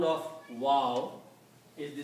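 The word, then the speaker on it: و: Wow has the sound of o in English and yah has the sound of e in English.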